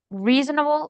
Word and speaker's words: reasonable: Okay, so we have like the intonation in the first uh syllable reasonable and then the other one obviously like it's the contrary of it.